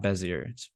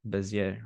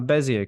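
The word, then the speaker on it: Bézier: been saying it wrong it's not busier something more French bezier or something like that I gotta listen to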